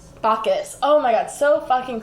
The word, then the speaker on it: Bacchus: Do you guys want to watch this video on how to pronounce it? Yes. Yeah. Bacchus.